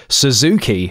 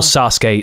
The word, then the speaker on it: Sasuke: someone call Naruto, or hearing someone call Sasuke Suzuki.